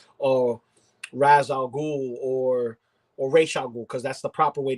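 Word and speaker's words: Ra's al Ghul: even going into like criminals criminals like or raz al ghul because that's the proper way to say it's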